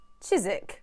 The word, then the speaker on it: Chiswick: would you pronounce it it should be chiswick chizik with a z sound don't ask me why it's the way it is okay fine chizik records